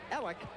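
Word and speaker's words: Eliuk: It's Ell. It's spelled E L I U K from Vancouver.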